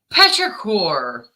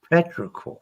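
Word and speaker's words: petrichor: smell after a rain patrier petrier how do you pronounce it friction Petra cor Petra cor okay come on you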